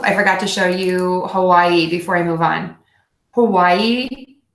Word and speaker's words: Hawaii: This word is pronounced, the state is actually pronounced differently than I'm going to pronounce it by people who live in Hawaii and also people who are native to Hawaii.